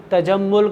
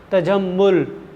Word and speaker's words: تجمل: مسئلہ ہو، ایسا نہیں۔ تجمل کا تلفظ صرف میم کی پیش بس اس میں عام ہے، میم کی پیش، تجمل۔ تو تے پہ زبر،